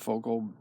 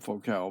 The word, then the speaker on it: Focal: I used to call it Focal, people call it Foccal because it's French.